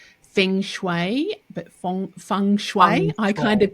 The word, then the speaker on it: feng shui: air I was checking with Shelly about the pronunciation fenue but funue I kind of get it a little bit. So funue funue.